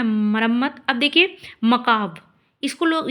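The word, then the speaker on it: macabre: मकाब का मतलब होता है इसको देखिए बहुत लोग पढ़ते हैं मैकबरे मैकबार। ठीक है? लेकिन ये गलत है।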